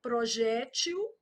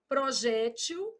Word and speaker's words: projétil: Do mesmo tipo dessa, ó, projétil, projetil, e muda o plural, ó. Projéteis e projetis. Cada uma aí do seu jeito. Então, aqui, ó, projéteis e projetis, projétil, projetil, tô marcando a sílaba tônica, tá?